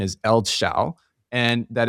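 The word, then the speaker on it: eldsjäl: On the Tim Ferriss podcast, Daniel Ek said that the pronunciation is Eldshall and that it's actually a very special Swedish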